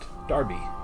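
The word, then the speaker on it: derby: hmm by the way the hat that he dropped in england is pronounced darby which is the name of our dog we travel in time mr scarman i'm really from 1980.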